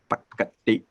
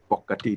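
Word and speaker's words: ปกติ: And it's in words, and it's this word here, pakati, or pokati, depending how you want to pronounce it, which means normally, not usually, but otherwise it's not usually pronounced.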